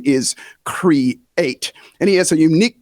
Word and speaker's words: Kre8: a matter of fact, his name is Kre8, and that's spelled Kre and the number 8, has a unique perspective on how art stimulates us to go further, faster.